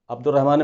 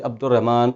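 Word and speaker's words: عبدالرحمن: इसी तरीके से हम लिखते हैं अब्दुर्रहमान, अब्दुर्रहमान में क्या, अलिफ भी साइलेंट है और लाम भी साइलेंट है।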